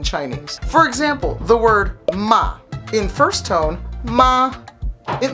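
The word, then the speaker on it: 骂: falling tone which is the fourth tone ma that means to scold or abuse somebody here's where it's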